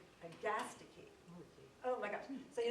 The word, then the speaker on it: Agastache: Well, if you look at the Kew Gardens pronunciation, it's Agastache.